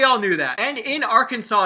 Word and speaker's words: Arkansas: I'm talking about Arkansas and Illinois. Why is there an S? Why? There's no reason for it to be there.